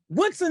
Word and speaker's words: Woodson: Woodson is the correct pronunciation of his name, but we will give it to you.